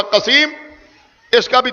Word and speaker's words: قسیم: قاف سین یہ میم، ایک یہ ہے قسیم، دوسرے قسیم کے ہجے ہیں قاف صاد یہ میم، اس کا بھی تلفظ ہوگا قسیم، اس کا بھی تلفظ